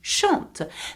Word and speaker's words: chantes: Though there is an S, we do not pronounce the S at the end. So you say tu chantes.